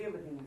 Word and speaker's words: dividend: Do you hear the ending of that word? Yes. Yes. It's in, but it's spelled E-N-D if I write it for you, but I want you to be thinking of the sound of it.